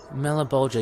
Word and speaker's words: Malebolgia: you were speaking to a how do you pronounce his name again Maura Bulger the other name for the damn Malibu do ya melih Bulger yes oh yeah you guys were shooting the